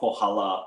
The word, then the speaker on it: Pohala: And your company is Pohala, is it? That's how you pronounce it? Yes, it's called Pohala.